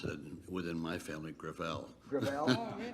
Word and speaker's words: Gravel: within my family grel grael it's a French name thank you uh I